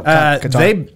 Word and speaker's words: Qatar: Oh, Qatar. They banned, it's pronounced Qatar.